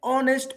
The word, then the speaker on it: honest: Even though it starts with letter H. But we consider only from O.